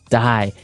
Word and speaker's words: dye: you're dyeing it okay dye so it's pronounced exactly the same way as you know to die to not live anymore die but it's spelled